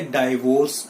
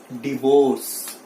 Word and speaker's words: divorce: यू my dear friends, डाइवोर्स इज the wrong pronunciation. इसे डाइवोर्स नहीं बोलते हैं। सो the right pronunciation for this word is नॉट डाइवोर्स, डाइवोर्स नहीं है ये, इट इज डिवोर्स, इट इज डिवोर्स।